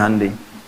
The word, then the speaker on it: Hyundai: Jepang bikin Honda ya Korea bikin hundai Hyundai bacanya hundai kemudian sana masuk dunia